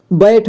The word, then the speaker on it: बैठ: उसी तरह से यानी कि जिसका मात्रा जैसा लगेगा वैसे ही उच्चारण किया जाता है। बैठ, बैठ, ठीक है, तो इसमें ऐ की मात्रा